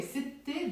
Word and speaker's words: ست: I have to say ست أشخاص because I'm dropping the ت مربوطة and with it goes the sound A. It goes away. ستة becomes ست.